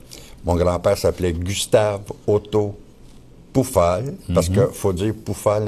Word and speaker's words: Pufahl: ok alors sur pufal le son u en allemand se prononce ou alors ça fait poufal mais ici si tu